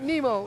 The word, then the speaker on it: Nemo: Not Nero, but Nemo.